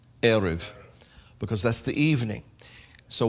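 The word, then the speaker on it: ערב: means to mix or dominguez but here it's pronounced erev because that's the evening so why is the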